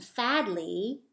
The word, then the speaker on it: Fadley: And if you listen, Athey and Fadley have the same sound at the end of their name, that E sound.